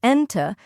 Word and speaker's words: أنتِ: For example, the word أنت, with a short A sound at the end, means you to a boy, but أنتِ, with a short E sound at the end, means you to a girl. So be careful with pronunciation. It really matters in Arabic.